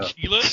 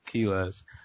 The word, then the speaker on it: Quiles: Everyone pronounces it wrong in Spanish. So. Keyless? You know, Quiles, you're so white. King Quiles. Man, I had that in in my head. Spanish, so Q's are pronounced like a K, you know, so it's Kilas.